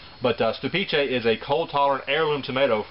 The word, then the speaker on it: Stupice: Actually, I was mispronouncing the name all this time. I was calling it Stupice because, well, I'm a redneck and that's how it's spelled. But Stupice is a cold-tolerant heirloom tomato from Czechoslovakia.